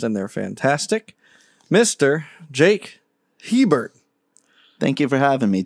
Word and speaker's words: Hebert: That is how I pronounce my name. Okay, Jake Hebert. Yep, Jake Hebert.